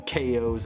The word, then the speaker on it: Chao: gonna raise my own kos and it's gonna be awesome because i love the kos and it's pronounced ko and not ciao because it comes from the word chaos fun fact but unfortunately